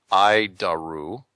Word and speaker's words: ADIRU: So the ADIRU system, also known as the Air Data Initial Reference Unit, we pronounce it IDARU.